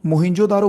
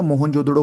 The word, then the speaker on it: मोहनजोदड़ो: ठीक है, दूसरे नंबर पे मोहिंजोदारो देखो, मोहिंजोदारो बोलो या मोहनजोदड़ो बोलो, कुछ भी जो आप अच्छे से प्रोनाउंस कर सको।